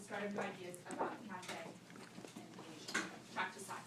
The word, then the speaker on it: Cathay: That's what, how you pronounce that, Cathay.